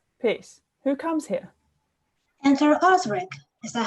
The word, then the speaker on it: Osric: Enter Osric. Is that how you say it? Osric?